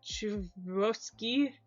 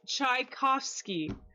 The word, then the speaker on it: Tchaikovsky: It's pronounced Tchaikovsky. You gotta go on YouTube for that one. Tchaikovsky. I said it pretty similar. I just said it in a Russian accent, so I said Chivroski.